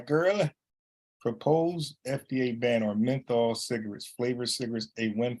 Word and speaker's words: menthol: So if I'm saying it right, methanol cigarettes, let me just, I hate my shit wrong. Menthol. I know I was saying it wrong.